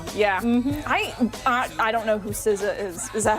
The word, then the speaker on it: SZA: I don't know who SZA is.